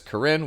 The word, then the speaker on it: Karin: year throughout the video you'll hear me pronounce her name as Corinne which I hope is correct because I'm basing it off of how the English dub voiceover artist Amanda Layton pronounces it in Epic seven protector